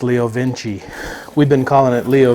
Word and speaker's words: Leo Vince: your name there but he was saying it's pronounced leo vinci we've been calling it